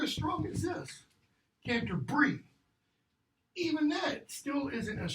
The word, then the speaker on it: Canterbury: Modern American English, Canterbury. British English, Canter, how it's pronounced, Brie. Okay? Well, where's that stress? Boom, boom. It's right there.